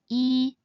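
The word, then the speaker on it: 衣: For example, this is the Chinese character for word clothes, and it is pronounced as E.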